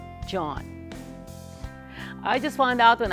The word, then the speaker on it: Gian: During the whole interview, I kept calling him Gian, but his name is actually pronounced John.